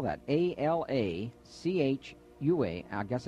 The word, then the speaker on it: Alachua: box 1920 oh my goodness how did she pronounce that again alachua oh thank you richard a alachua florida three two six one five and they're